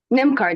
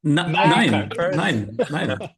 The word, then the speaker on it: NymCard: Yeah, so NymCard, is that correct pronunciation, Tina? You correct me before I embarrass myself. NymCard, yes.